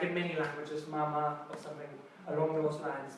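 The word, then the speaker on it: 妈妈: Who can try to pronounce it? Mama. Mama.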